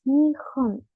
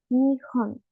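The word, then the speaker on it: 日本: ni como vocabulario tenemos nión nión Japón Recuerden que la h en el japonés suena como una j y también les dejo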